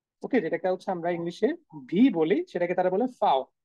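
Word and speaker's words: W: ওকে, ডাব্লিউ যে উচ্চারণ সেটা হয়ে যাচ্ছে ভে। হ্যাঁ, ভে, লিটারালি ভে, মানে ভি এর যে উচ্চারণ সেটার মতো হয়ে যাচ্ছে।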